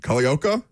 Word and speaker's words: Culleoka: Is it Culleoka? Yes, it is.